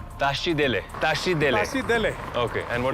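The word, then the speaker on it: Tashi Delek: you say Tashi Dele. Tashi Dele. Tashi Dele.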